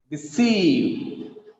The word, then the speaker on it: deceive: The second example, deceive. The second syllable is stressed here. It has 2 syllables. The second syllable is stressed. Deceive. We should read it like that.